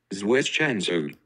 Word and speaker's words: zwischenzug: And I'll give the pronunciation one more time. Zwischenzug.